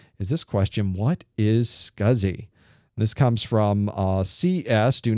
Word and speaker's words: SCSI: S-C-S-I. It's an odd name, isn't it, for something, especially an acronym. And it is pronounced SCSI, even though it's not exactly spelled that way, but it's close enough.